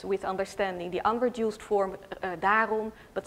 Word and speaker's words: daarom: So for instance, in Dutch there is the word daarom, meaning therefore, and it can be pronounced as daam, so daarom instead of daam.